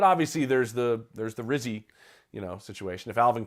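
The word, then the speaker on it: Rizzi: coach of the Saints I would like it to rhyme with fizzy fizzy yeah but I mean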